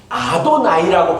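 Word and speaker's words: אֲדֹנָי: 근데 그 이름이 나올 때마다 하나님의 이름을 망령되이 부르지 말라라는 계명을 기억하여서 하나님의 이름을 부르지 아니하고 주는이라는 뜻을 가지고 있는 아도나이라고 발음했어요.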